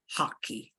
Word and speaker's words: hockey: Y en español, no sé, no hay traducción para hockey. Es hockey. They have to remember to pronounce the H of hockey, sí, porque nos suena así la Hockey.